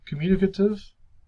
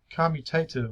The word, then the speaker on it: commutative: consideration of the goods communicative the goods sold is considered to be equivalent of the price and vice versa vice versa um i pronounced that incorrectly um commutative i'm sorry not communicative i actually do wear my